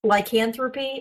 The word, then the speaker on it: lycanthropy: According to the temple, lycanthropy. Am I going to pronounce I'm going to butcher this. That was right. That was correct. Lyanthropy.